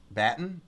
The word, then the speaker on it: Batten: Tell me if I'm wrong, called CLN3 batten disease.